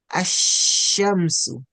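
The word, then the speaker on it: الشمس: So we pronounce it with the Hamzatul Wasli that has the a sound. Ash, that's the sukun part. We freeze on the sukun part and then we connect it to the haraka part. Asha, ashamsu, ashamsu. So whenever Laamut-Ta'areef comes with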